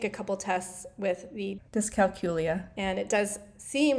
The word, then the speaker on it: dyscalculia: Dyscalculia is one that has come up for me recently.